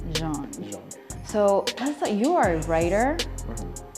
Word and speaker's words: Jean: Say it right. It's John. It's Jean.